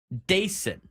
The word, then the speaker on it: Dason: Dason. That's his pronunciation guide on there. Dason Acosta.